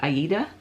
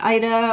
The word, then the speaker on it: Aida: I always pronounced it Aida, like the opera. And now I hear people call it Ida, or they call it Ada.